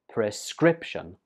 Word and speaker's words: prescription: This word has three syllables and the stress goes on the second syllable, prescription.